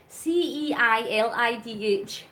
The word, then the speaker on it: Ceilidh: it's called Ceilidh dancing, Scottish Ceilidh, Ceilidh. It's spelled really weird, but it's called Scottish Ceilidh, and you've got different variations of Scottish Ceilidh dancing.